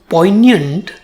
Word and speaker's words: poignant: word it has two syllables Po and yant and the stress falls on the first syllable in the second syllable it has the sound year but it doesn't have the letter Y or I high as one would normally expect but that's English about the meaning something